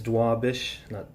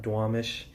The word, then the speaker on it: Duwamish: that wrong, but like, and it's Duwamish, not Duwamish.